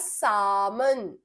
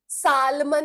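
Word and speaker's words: salmon: to cancel it नाउ इट is called as सामन सामन ठीक है सालमन नहीं एल is silent सामन now this जल्दी से दे दो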